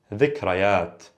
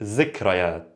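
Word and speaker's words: ذكريات: Remember, dzakkar, and then dhikrayat, memories, dhikrayat. Dialect, zikrayat.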